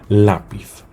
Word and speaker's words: lápiz: Por ejemplo, lápiz, ¿sí? Lápiz. La vocal más fuerte, la sílaba más fuerte, la sílaba que recibe mayor golpe de voz es la. Es la penúltima, como hemos dicho antes. Sí, las palabras llanas son las que reciben el golpe de voz con mayor intensidad en la penúltima sílaba.